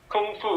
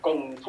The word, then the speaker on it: gong fu: is not actually true so kung fu is a mispronunciation of gong fu or something it starts with a g actually if you actually